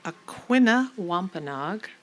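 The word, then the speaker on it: Aquinnah Wampanoag: Joseph Lee is an award-winning Aquina Wampenog, did I say it right?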